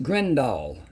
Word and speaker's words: Grindal: So it's pronounced Grindal, like D-O-L-L.